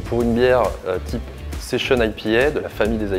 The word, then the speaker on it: session: Alors, le style session ou session si on prononce à la française, c'est un style qui fait partie de la grande famille des ail pieds.